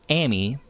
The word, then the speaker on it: Ammy: I call you um Amy I would pronounce that Amy but it's short for